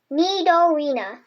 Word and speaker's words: Nidorina: Nidorina. Nidorina.